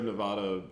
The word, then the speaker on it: Nevada: was Game grubs oh Nevada versus Nevada well it's true like it's like the Sierra Nevada you know that is the actual pronunciation of the world but apparently people like natives of the state they prefer to say Nevada Nevada you know you